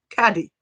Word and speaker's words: Caddy: Cuddy wants to know, what is the meaning of life? 42. Easy, turns out. Also, I pronounced that wrong again, and it's really sad. Panicked. Oh, Caddy. no. Caddy. I can do it.